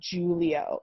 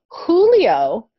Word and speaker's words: Julio: say this name as julio in spanish this is a spanish name in spanish the letter j is pronounced like the letter h okay so anytime in